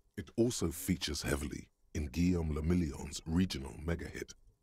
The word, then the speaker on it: Guillaume le Million: Guillaume la Million. If it doesn't rhyme, you're not pronouncing it right.